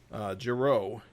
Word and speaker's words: Giro: Regards, Giro, rhymes with arrow, by the way.